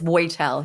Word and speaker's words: Woitel: So it's Woitel, yeah.